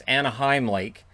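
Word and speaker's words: Anahim Lake: I've heard it pronounced Anaheim and Anaheim Lake. It's Anaheim Lake.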